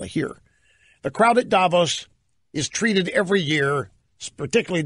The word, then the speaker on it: Davos: In Davos, you're not Davos, Davos, like Milos Forman.